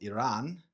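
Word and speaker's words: Ayran: We have a variation of kefir called Iran. So that is sounds similar to the country Iran, but I was told it's spelt differently and has a little bit of a difference in the way you say it.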